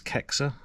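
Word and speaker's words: Caixa: There's Kexa. It's spelled C A I X A.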